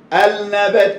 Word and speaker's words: النبات: النبات، النبات، النبات، لا، نطق للألف ونطق النون مرتين يبقى فيه لام، اهي معروفة خلاص.